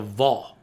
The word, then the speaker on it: vav: You pronounce it a vav when you're looking at it today, but it's the ancient Hebrew equivalent of a W.